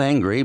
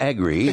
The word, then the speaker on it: agribusiness: Not angry, but agri. But sometimes my pronunciations as an Aussie can be misconstrued.